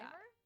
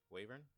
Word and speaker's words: wyvern: pronounce it Wyvern? like wyvern. What's the other one? Wavern? I don't know. Wyvern.